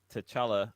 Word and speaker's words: T'Challa: Like, yeah, we need T'Challa.